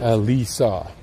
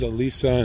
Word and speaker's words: Alisa: Alisa. I'm saying it right. Alisa.